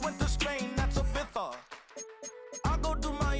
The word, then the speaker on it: Ibiza: Yeah, it's pronounced Ibiza, actually. What's the difference, man? Ibiza, Ibiza, you won't see me in neither.